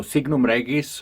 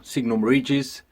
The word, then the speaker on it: Signum Regis: of the band so Signum raggies or Signum ridges depends if you are english-speaking you probably prom pronounce it signal ridges with we tend to say signal rag easy because it's a lot Latin word and that's how I would read it it's it was